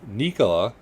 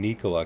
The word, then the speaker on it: Nikola: things big things anybody selling trucks yeah uh nicola i gotta start saying nikola cause that's actually how it's pronounced did you know that i did not